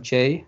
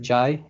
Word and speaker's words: Jai: And a little bit of myself, I go by a nickname, Jay. Some people pronounce it Jai. Either one's fine with me.